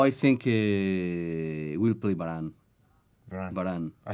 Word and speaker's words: Varane: Varane.